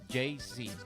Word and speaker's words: Yeisi: On YouTube, you spell his name Yeisi. Yeisi. So we'll be interviewing him at 8:30. JC. JC, that's how you pronounce it, JC.